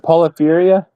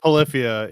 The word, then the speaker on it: Polyphia: Is it Polypheria? Polypheria? Is that how you pronounce that? Polyphia? It's Oh, Polyphia? It's not. Polyphia, yeah.